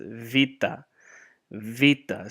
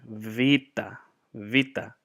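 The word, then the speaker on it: βήτα: in the monetary gets Vita Vita so like a V Vita Vita and then gamma but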